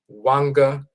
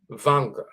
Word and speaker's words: Wanga: We're going to find later, for example, that the Bantu term Wanga is also pronounced Vanga.